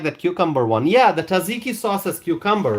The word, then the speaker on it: tzatziki: JW writes, "Oh, the tzatziki sauce. Is that how it's pronounced?